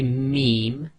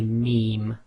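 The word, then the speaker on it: م: ba and wow so when you say mem your front two lips come together however it's the outer dry portion of your lips that should be touching so say meme when you say B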